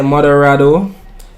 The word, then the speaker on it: moderado: Or do I need to translate moderado? Definitely moderate rainfall. Let's hear it pronounced.